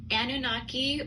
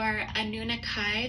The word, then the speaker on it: Anunnaki: going to do a Anunnaki or a nunakai there's a couple different pronunciations of the word anunikai starseed origin reading this